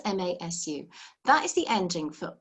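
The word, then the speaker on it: ます: that ending is but the su at the end is so quiet that it really just sounds like mass all right with just a soft s at the end it's spelt m-a-s-u that is the ending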